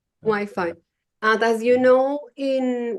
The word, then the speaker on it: Wi-Fi: on the pronunciation um because in Spanish um wey um but in English Wi-Fi Wi-Fi uh does you know